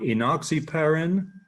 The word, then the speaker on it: enoxaparin: So enoxaparin, после меня, пожалуйста, enoxaparin. Enoxaparin. So listen to the English language, parin. So it's a very different pronunciation of that class of drugs.